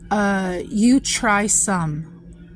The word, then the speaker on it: Choy Sum: Choy Sum is how it's pronounced, a source of vitamin A and C,